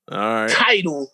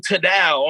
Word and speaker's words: Tidal: But it's Tidal. How you like me now? I'm on that Tadal. Somebody said it wrong to me before, and I said it wrong for once.